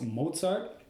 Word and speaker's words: Mozart: book it was written by his name is pronounced Wolfgang Amadeus Mozart yes Mozart like he's famous that one and yes his